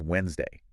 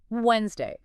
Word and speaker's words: Wednesday: Wednesday. Okay. So, it originally came from Woden's day and the D was never silent. Wow. But like over time it just kind of like naturally got dropped from pronunciation.